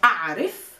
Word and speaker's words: أعرف: I know we say a'rif. Try to focus on the a pronunciation. A'rif, not a'rif, not a'rif, not a'rif. A'in.